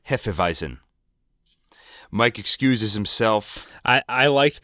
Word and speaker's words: Hefeweizen: in the bar there somebody orders a Heaphy wiesen and Verna corrects him it's pronounced Hefeweizen Mike excuses himself I